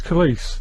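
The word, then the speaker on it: Khaleesi: It's Khalees. Like police, isn't it? Khalees, police. So that's a handy tip to remember Khalees. It rhymes with police.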